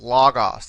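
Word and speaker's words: λόγος: Here you see, in this case, this particular word has an accent on the penultimate syllable, this omicron. Logos, that's the word, as you may know, for word.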